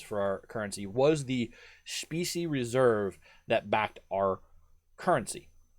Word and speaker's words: specie: So there's a term which I'm going to use multiple times tonight called, the term is specie, S-P-E-C-I-E. Specie is the way it's pronounced, specie, and I have to try to say it that way.